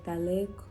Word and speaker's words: Tahlequah: I have heard Tahlequah said 10,000 different ways times 10, and nobody ever gets it right. And here on the Cherokee Reservation, we actually say Tahlequah, and you said it right, which never happens.